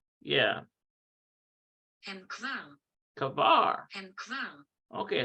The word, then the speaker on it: כבר: Okay, so hem, I want to see what that is pronounced like. Hem kaver. Yeah. הם כבר. Kavar.